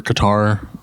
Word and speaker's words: Qatar: that would be the 2022 World Cup and cutter so cutter or Qatar um depending on how you pronounce it and so we have here 32